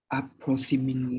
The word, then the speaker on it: approximately: Approximately. Close. Approximately. Okay, you have to say the T sound.